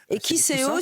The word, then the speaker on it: Kisseo: Comme ça qu'on vous a lancé imprimez les Kiseo.